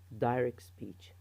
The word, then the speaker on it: direct speech: and here as you as you hear me saying it it's the T is not pronounced so they say direct speech direct speech the second one is